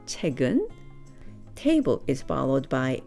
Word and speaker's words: 책은: 책, the book, followed by the topic particle 은, 책은, which is pronounced 책은.